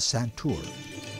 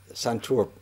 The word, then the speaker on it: santoor: with you um pundit shivkumar Sharma a world-renowned santour player am I pronouncing it correct santour you're absolutely correct okay uh called pundit yeah